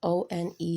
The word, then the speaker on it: one: We don't have a W sound, it's just O-N-E here.